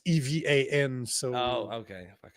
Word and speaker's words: Evan: But the point is that this dude Ivan Ivan Ivan Ivan, however the we pronounce his name. Let me bring up his No, it's Evan.